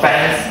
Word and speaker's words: Fans: Our company is a shoe manufacturer by the name of Fans. It's not fans because it's pronounced in Indonesia.